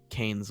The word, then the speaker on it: Keynes: It's Keynes.